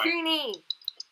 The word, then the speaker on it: kunai: Kuni! That's me, Locke. Or Kuni. That was me. Kuni. But I'm pretty sure they're pronounced Kunai.